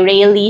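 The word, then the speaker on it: Rayleigh: Ang pronunciation do ay rily scattering.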